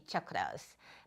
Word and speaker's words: chakras: chakras, people call them, their correct pronunciation, I've been taking a Sanskrit pronunciation class, is actually chakras. But everyone calls them chakras or chakras, and they're actually chakras.